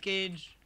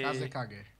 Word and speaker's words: Kazekage: You're not even pronouncing it right. Fuck. Oh, darn it. How the fuck do we pronounce it then? Just call me. Kazekage. It's Kazekage.